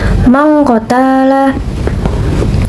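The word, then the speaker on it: مَنْ قَتَلَ: Hukum tujutnya yaitu ikfa karena terdapat nun mati bertemu dengan huruf qof atau huruf ikfa dan bacanya berubah menjadi eng seperti ini. Mangqotala.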